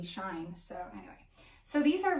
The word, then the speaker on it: SHEIN: actually you guys I've been calling this brand she in Forever I mean it made sense she n it's not spelled like properly shine so anyway so these